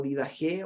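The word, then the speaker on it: Didaché: los dos sea por los apóstoles conocida como didajé olvidase pronunciado con jota como en griego de dax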